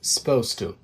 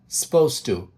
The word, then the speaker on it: supposed to: Supposed to. Supposed to. Также обратите внимание, что я не произношу звук, букву U после S в слове suppose.